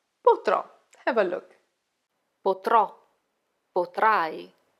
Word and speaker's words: potrò: So, it's not poterò, but potrò.